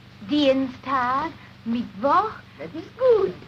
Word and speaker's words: Dienstag: Sonntag, Montag, Dienstag, Mittwoch. That is good, but pronounce the words broader, so Sonntag, Montag, Dienstag, yes?